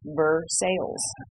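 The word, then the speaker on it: Versailles: Kentucky native is that we pronounce things the way it looks true and it says ver sales you know what we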